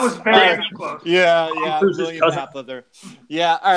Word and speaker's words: Mapother: I don't know if my William Moffer. I don't think I'm off. Let's see what our Linus had. Nothing. Okay. It's William Mapother. You missed kind of like a syllable in there, so I don't think I can give it to you.